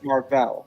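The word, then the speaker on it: Mar-Vell: If you call him Marvel, his name is Marll. Marll. Yeah, I pronounce it Marll.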